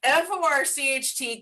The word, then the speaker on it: Forcht: but I think it's Forked. See, that's why I don't use it. Forked, but it's mispronounced. Forked with a CH, like FORCHT.